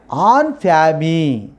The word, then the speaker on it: en famille: The pronunciation is en famille. Double L E is a silent letter. So we should not pronounce L L E.